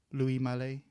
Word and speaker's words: Louis Malle: lot of his influences from what's his name, Louis Malle is how you pronounce his first.